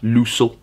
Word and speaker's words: Lössl: I think that's how you pronounce it. I went onto the Huddersfield YouTube videos to see how they pronounced it, and it was Jonas Lössl. So I'm sticking with that, Lössl.